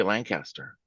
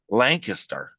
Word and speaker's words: Lancaster: You can't say Lancaster. How is it? Lancaster. Lancaster.